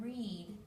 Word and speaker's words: read: or doesn't make here we have the word read the a is actually not pronounced it's silent please again silent a